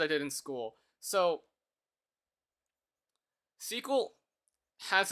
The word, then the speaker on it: SQL: do you know what SQL is, by the way? My friends mentioned that they're computer science teachers. I do. Okay. Maybe they've called it SQL, but its proper pronunciation is SQL.